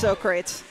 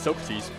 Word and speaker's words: Socrates: Yeah, it is pronounced Socrates. That's what he said. I always thought it was Socrates.